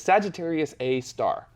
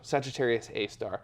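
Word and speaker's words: Sagittarius A*: And then the actual black hole's designation is Sagittarius A star. So it has the little asterisk next to it, but it's pronounced star. So Sagittarius A star.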